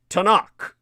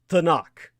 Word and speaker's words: Tanakh: anyone who's not Jewish, with a K-H, H at the end to soften the K.